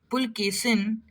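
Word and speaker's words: Pulakeshin: In the 7th century, the Chalukya king Pulkesin, it's not Pulkesin, remember that, H is silent. Pulkesin defeated Harshvardhan, who was called the Lord of the whole of North India.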